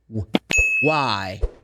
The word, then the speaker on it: why: Don't forget, the H is silent. You say when, why.